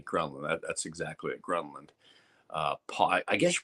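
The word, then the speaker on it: Pål: Paul, I guess you pronounce it Paul. It's the P-A-L, but it's got those 2 dots over the A.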